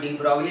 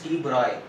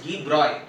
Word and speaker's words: de Broglie: by students, even by several teachers also they pronounce it de Broglie, but the name is not de Broglie, it's de Broglie.